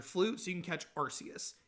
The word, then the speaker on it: Arceus: Yes, that is how I pronounce it. I think Arceus sounds better than Arceus. That's just like when I look at the word, that's how it's pronounced to me. I like it. I don't care that it's not the canon pronunciation.